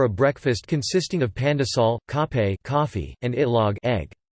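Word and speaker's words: kape: options to take with cape which is the filipino pronunciation of cafe coffee breads and pastries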